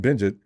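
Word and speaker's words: Bagent: Falcons will try and go after quarterback Tyson Bengt. Is that Bengt Is that Is that the way we pronounce that name? B E N G E T. Bengt. Bengt.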